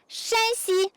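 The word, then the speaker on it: 山西: So shan, shan, shan, shan. Shanxi, the first accent, is that province. Shanxi, the third accent, is this province.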